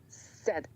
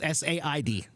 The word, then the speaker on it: said: it's just s d if I just showed you those letters s e d said that's the exact same pronunciation as s a i d okay yeah that's all